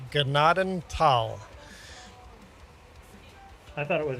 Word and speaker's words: Gnadental: a way of putting pronounced Gnadental in the description of the map next time. Google says that's how it's pronounced. Google is very, very wrong. Apparently. So I got to redo my video now, huh? Yes. Gnadental. If there's any silent letters, it's the H. Don't pronounce the H.